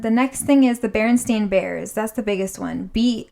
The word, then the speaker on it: Berenstain: It's Berenstain, not Berenstein. Berenstain. Berenstain, Stain. Berenstain Even the Bears.